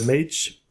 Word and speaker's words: M4GE: The band is called Mage, like in M-A-G-E, but it's spelled with the number 4 instead of the letter A.